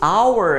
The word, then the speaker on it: hour: Esse hour aqui é mudo. Se eu tirar o H, continua hour.